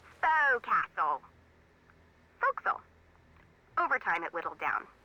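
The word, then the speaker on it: forecastle: off why is that try pronouncing it like an English sailor with no formal education Oh Castle fo'c'sle over time it whittled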